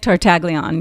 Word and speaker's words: Tartaglione: Nick Tartaglione, yeah.